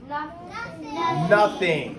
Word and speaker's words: nothing: an irregular word is because this says n what says uh U but it's spelled with an O which means it's a very good the rest of these follow their rule and in nothing but it's we don't say it no it's nothing say nothing nothing great